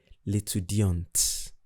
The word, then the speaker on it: l'étudiante: For the masculine, I didn't pronounce the T. While for the feminine, I pronounce the T.